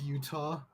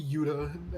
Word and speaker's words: Uta: picture of her foreign part of me thinks that her name is just pronounced Utah no it doesn't have an H in it unfortunately it's a UTA I wish it was Utah that'd be so funny I mean it would just be Yuda at this point some